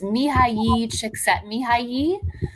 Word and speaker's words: Mihaly Csikszentmihalyi: I can pronounce it for you. It's Please. It's Mihaly Csikszentmihalyi, who's the father of being in a flow state.